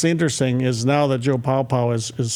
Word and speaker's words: Paopao: And now Joe Paopao, calling plays. I used to call him Joe Peo, and I didn't know how to say his name.